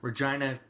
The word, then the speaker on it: Regina: think it was Regina yes that's how they pronounce it Regina Canada was the last time I did one